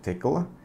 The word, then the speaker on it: Tcl: talk to you about tickle based test benches tickle or TCL as it's spelled but it's pronounced tickle is a scripting language